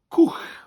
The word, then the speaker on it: cwch: bus bus bws bus boat in welsh is cook now it spells cwch it almost looks like the word coach you know a